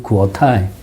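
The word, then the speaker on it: 国台: 구오타이.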